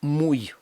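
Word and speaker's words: muy: читається як і але в багатьох випадках вона читається як наше йод в даному випадку муй так як ніби це було б буква йод те слово про яке я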